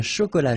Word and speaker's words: chocolat: Un chocolat chaud. Remember, C-H, ch, chaud. Chocolat. And then final T not pronounced.